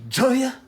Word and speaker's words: Joy: Ah oui, ça s'écrit J-O-Y, puis lui, il dit Joya.